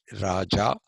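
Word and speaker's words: Rajah: A better translation of this, the first anga, is Raja, not R-A-J-A, Raja, but it is R-A-J-A-H. You have to write an H at the end and pronounce that the Sanskrit way, which is Raja.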